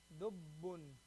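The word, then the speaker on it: دبّ: You have to hold the ba sound. Dubbun.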